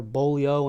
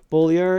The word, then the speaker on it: Beaulieu: name wrong we say Buller you'll hear bolo and everything else bolier is the proper way to pronounce our name it is the way that is pronounced with a Quebec accent from The Plains of